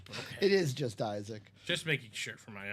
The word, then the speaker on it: Isaac: card for the Rams is that just how you say his name no I just was stumbling over my fat lips I think it's just Isaac it is I kept saying isic Isaac Bruce I think